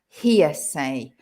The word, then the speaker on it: hearsay: first word is heresy so there's a difference in pronunciation as well heresy and hearsay and what's heresy craig